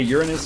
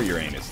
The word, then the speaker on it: Uranus: someone say like you're you're pronouncing uh you're Uranus wrong you can say it either way but I'm not now I'm self-conscious you can say Uranus or Uranus they're both they're both wildly wild widely accepted W wildly wild